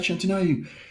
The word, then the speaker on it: Shantanu: How do you pronounce his name? Shantanu.